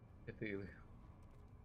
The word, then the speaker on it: Cthulhu: And accept we pronounce it Cthulhu.